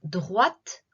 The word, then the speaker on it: droite: droite allez tout droit continuez tout droit donc droite on prononce bien le thé droite allait tout droit